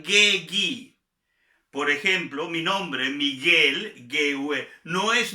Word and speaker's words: Miguel: Recordemos también que la GUE y la GUI se pronuncian GUI. Por ejemplo, mi nombre, Miguel, GUE, no es Miguel, es Miguel.